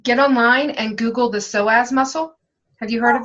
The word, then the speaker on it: psoas: It's more of your hip flexors, and if you could get online and Google the psoas muscle. Have you heard of this? Okay, no, but I will. Yeah, so it's spelled Psoais, Okay.